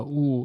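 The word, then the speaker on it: ㅜ: vowel in korean uh ooh it means it's it's basically you pronounce it the way you do w-o-o um the thing about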